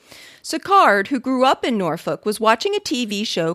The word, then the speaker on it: Norfolk: of naval station norfolk pronounce it nor folk emphasis on the hard l having grown up there